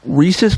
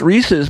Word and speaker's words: Reese's: I think it's Reese's because that's the way I've always heard it, and only because it rhymed with pieces. Reese's Pieces.